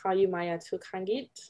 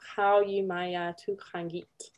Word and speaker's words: Qaujimajatuqangit: you pronounce it Inuit Qaujimajatuqangit. So the Q's are often kind of like a ch, like a guttural sound.